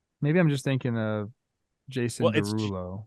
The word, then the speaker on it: Jasson: If it's Jason, I apologize for putting the emphasis on the wrong syllable. Maybe I'm just thinking of Jason Derulo.